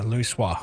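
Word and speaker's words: Louisoix: That's her pronounced Louis Soir.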